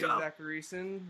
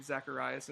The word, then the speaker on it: Zachariason: I'm Zachares, which you guys might know me as the late round quarterback, and you might have been pronouncing my last name Zacharias this whole entire time.